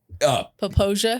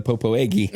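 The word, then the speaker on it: Popo Agie: But it also takes a Wyoming person to pronounce that correctly. Popoja? Yeah, Popoja. Yes. For years and all the time when I was a kid, I called it the Popoegi.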